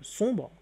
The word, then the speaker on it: sombre: Et nous avons pris également un autre terme, le terme sombre. Donc le terme sombre s'écrit avec un M, mais se prononce N.